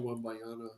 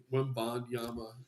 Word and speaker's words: Wembanyama: No Wembayana, obviously. Wembanyama.